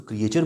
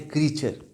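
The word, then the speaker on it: creature: और उसके बाद ये अगला वर्ड है, हम आमतौर पे इसको क्रिएचर बोलते हैं, जो मिस प्रोनाउंसिएशन है ये है क्रीचर।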